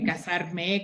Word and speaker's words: casar: It's like different conjugations, but we also have the verb casar with Z, right? That in your dialect is pronounced the same as casarse. Casar with S, and with Z, you pronounce it the same, casar, right?